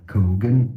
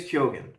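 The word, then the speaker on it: Keoghan: have Keyon Barry Keon many say kogan that's not correct at all we are looking at how to pronounce these names it is kyogen okay Barry kyogan Perry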